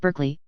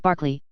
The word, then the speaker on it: Berkeley: honorable Kirk Kubri Lonover Marjgery Banks sellers Vikcount Berkeley of Cole Mandelly Castle Warikshshire pronounced Kubrith Lanover Marshbanks sellers Vikcount Barkley of Chumly Castle Warikshire.